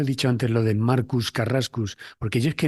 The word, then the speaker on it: Marcus: mí me dicen Marcus pero es que Marcus se pronuncia marcas Marcos Carrasco y Marcus